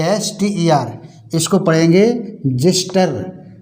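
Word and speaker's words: xyster: टीई आर एक्सवाई एस टीई आर इसको पढ़ेंगे जिस्टर जिस्टर मीस होता है खुरचन ठीक है इसी तरह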